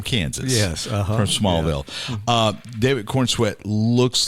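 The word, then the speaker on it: David Corenswet: sweat corn sweat uhhuh David Corn sweat corn like corn sweat like a sweating corn on the cob wow from Kansas yes from Smallville uh David Corn sweat looks like the portrayal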